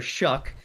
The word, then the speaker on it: Shough: So, Tyler Shough, that's how you pronounce it, s h o u g h. I'm not sure how they get a c k out of that, but you know, he